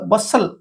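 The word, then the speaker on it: bustle: बी यू एस बस टी को silent करिकरी बसल okay are अर्थ होची कोलाहल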